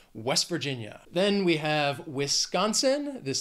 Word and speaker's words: West Virginia: next is West Virginia this state has four syllables but again the stress in that second word that Virginia is on that second syllable West Virginia if you say it quickly you really almost don't hear that T at the end it almost sounds like you're saying my name West Virginia then we